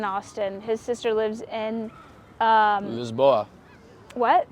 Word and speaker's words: Lisboa: His sister lives in, Lisboa. what? Lisboa is like they call it. Lisboa, yes. Lisboa. Lisboa. They don't actually say it like No, that. that's Spain.